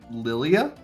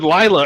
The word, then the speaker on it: Lilia: get her name wrong Jesus Lilia yeah I said lla earlier oh don't ever say that name in front of me again lla I know that name I don't know that name I just mispronounced it you're fine Marco what